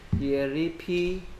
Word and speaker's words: Elephant: ELEPHANT 그렇지.